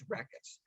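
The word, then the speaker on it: Rakkath: to their locale as Rekes. So we know definitively now that Tiberia is the ancient city of Rekes. Let me pronounce here. It's Rakas.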